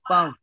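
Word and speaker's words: peuvent: Why puff? आपको बताता हूँ. एंडिंग का जो कॉन्सोनेंट है ना NOT, ये जाएगा साइलेंट आपका. एंडिंग का जो कॉन्सोनेंट है ना NNT, ये जाएगा साइलेंट. क्योंकि हम बोल रहे हैं nous pouvons, हम nous pouvons नहीं बोल रहे हैं, क्योंकि ending of consonant would be silent.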